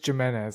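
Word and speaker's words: Giménez: Andres Jimenez. Like I said, it's a G.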